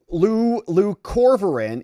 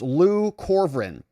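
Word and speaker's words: leucovorin: NY says, "Hey, Luc Corin is pronounced Lu Corin, aka it's called folinic acid, which I probably botched that name, too.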